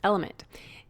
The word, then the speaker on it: LMNT: of our sponsors lmnt element it's spelled lmnt but pronounced element if you haven't heard